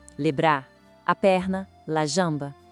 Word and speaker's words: jambe: A palavra para perna é feminina, la jambe. O som do J é bem suave, como o nosso Jzinho em jarro, sabe? E tem um som nasal no meio, jambe. Então fica, la jambe.